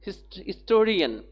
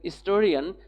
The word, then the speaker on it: historian: Majumdar is an historian. Mr. Majumdar is an historian. Here H is silent, therefore it produces the vowel sound.